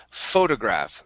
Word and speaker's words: photograph: next up we have photograph all right so let's switch this t here to a flab t instead of saying photograph it's photo photograph photograph good one more time photograph